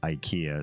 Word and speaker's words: Ikea: of the store is Ikea so it rhymes with idea same same idea yeah